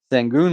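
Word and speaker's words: Şengün: um alprin is how you say his name sangoon baby yes sir I think he's gonna activate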